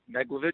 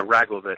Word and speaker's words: Raglovich: We talked about your number one, Neglovich. Is that the correct pronunciation? Yeah, Raglovich. I doubt it. Yep. Raglovich. Okay, sorry.